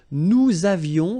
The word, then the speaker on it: nous avions: Nous avions, let's make this beautiful liaison here.